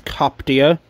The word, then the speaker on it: Coptia: drop dead liverpool and that's how how you pronounce it is coptia she has these first of three copyright ships